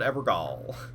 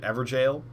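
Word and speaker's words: Evergaol: There's a gall. Apparently, people call it jail. Apparently, it's not uncommon to pronounce these jail. I like my pronunciation better. Look at that. Forlorn Hound Evergall.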